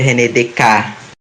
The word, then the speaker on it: René Descartes: René Descartes, que na verdade é René Descartes.